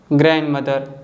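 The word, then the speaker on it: grandmother: Rule number 1 कहता है the letter D is silent when it comes after the letter N. अगर जो letter D है letter N के तुरंत बाद आता है तो डी को हम नहीं बोलते हैं, डी साइलेंट होता है।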